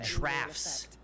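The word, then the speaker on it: draughts: for him thus far oh that's pronounced drafts the drafts I always thought it was Drops possibility of finding something stronger I have pronounced that wrong for so long problem being that the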